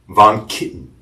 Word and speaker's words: VonKittin: of Von Kitten. Did I Did I pronounce that correct?